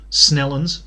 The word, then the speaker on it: St Helens: Maybe it's not that far to get from Anson's Bay to somewhere like St Helens or Snellens, as they pronounce it here.